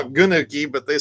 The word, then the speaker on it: gnocchi: the soup, the chicken gnocchi, or what do they call it? Yeah, I call it gnocchi, but they said no. The G is silent, so it's you can be like Snoop Dogg.